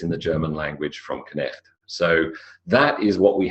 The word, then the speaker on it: Knecht: What you'll notice is you pronounce every letter of Knecht.